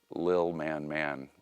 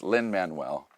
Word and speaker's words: Lin-Manuel: our family we call, Maxine never could say his name, so it's Lil Man Miranda. she's like, oh, is this Little Man Miranda? Little Man Miranda. But it's Lin-Manuel.